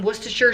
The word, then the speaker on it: Worcestershire: it for a long time next up some worcestershire sauce yes that is how the people from across the pond told me to pronounce it what's the shirt and we're gonna